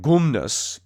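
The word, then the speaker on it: γυμνός: around the the gymnasium gymnasium in greek is pronounced gumnasium and gumnus in greek means naked because the exercises that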